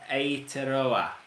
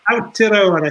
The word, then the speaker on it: Aotearoa: want to talk to you about the Tour Aotearoa. I pronounced that correctly? Aotearoa, I think it is. Aotearoa.